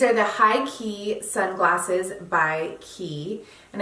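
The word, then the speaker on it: Quay: the Heike sunglasses by ki and I know a lot of people will pronounce it Kwai but it's actually an Australian company it is pronounced ki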